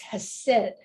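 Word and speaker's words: Chesed: you're looking at and that is pronounced has said and um in English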